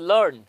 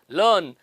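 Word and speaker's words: learn: है this wall sound same is the case with लर्न एल ए आर एन लर्न लर्न में भी यही वाला वोल साउंड है तीसरा जो वर्ड है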